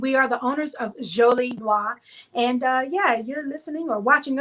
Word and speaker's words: Jolie Noire: So, Jolie Noire, did I pronounce that right? Yeah, Jolie Noire.